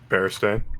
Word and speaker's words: Berenstain: I double checked, and it does have an A. It is spelled with an A. Mhm. Bear Stain.